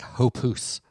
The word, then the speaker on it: Hoppus: Yeah, I'm a fan of saying it like Hopus. That's how I say his name. Mark Hoppus.